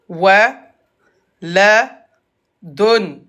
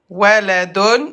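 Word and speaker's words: ولد: Et à l'arrêt, on regarde la dernière lettre. La dernière lettre, c'est la lettre del. On prononce del comme s'il avait un soukoun. Waladun.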